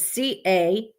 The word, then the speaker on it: Cahaba: the capital in 1826, Cahaba, I think that's how you say it, continued to grow and thrive. It is Cahawba. Cahawba. So I don't know if I'm saying that right. Cahawba, the way Alabamians talk.